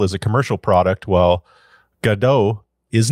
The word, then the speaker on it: Godot: a commercial product while gdau is not now saying G because that's how the official documentation says it should be pronounced for English speakers I have included a